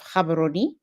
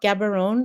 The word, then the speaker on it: Gaborone: the beautiful city of Gaborone. Most folks like to say Gaborone. It is not Gaborone, it is Gaborone. It's not difficult to pronounce at all, where it is still a little bit cold.